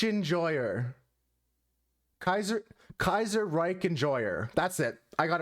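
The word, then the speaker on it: Kaiserreich: I'm gonna struggle to pronounce this name, but I'm gonna try my best. Kaiser Ich Enjoyer. Kaiser Reich Enjoyer.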